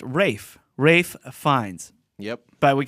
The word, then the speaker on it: Ralph: Michael just wants to let us know it's not pronounced Ralph Yeah, we Or- figured that out right after the mics went down. or Ray Fiennes. It's actually pronounced Rafe.